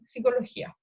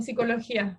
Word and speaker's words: psicología: seguimos escribiendo con P psicología, ¿ya? Eh, los franceses, si tienen ocasión de conversar con franceses, pronuncian muy bien psicología. En general dicen psicología, psicología. Algo que los chilenos no hacemos mucho en realidad.